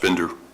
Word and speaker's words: Binder: code enforcement board Mr binder thank you so much your last name is pronounced Bender Bender okay yep and the